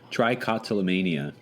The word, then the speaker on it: trichotillomania: I listened to the Wikipedia pronunciation of it like 10 times. Trichotillomania. That's actually it.